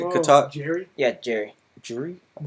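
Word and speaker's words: Jeri: Jury? It's pronounced Jerry in the...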